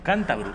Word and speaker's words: cántabro: Cántabro, y no es ninguna broma, cántabro, con acento en la A.